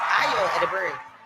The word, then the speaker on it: Ayo Edebiri: Ayo Edebiri.